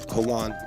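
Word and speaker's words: Juan: I put the hyphen there because I just wanted to remember how to say Hoan instead of Joan because I said Joan.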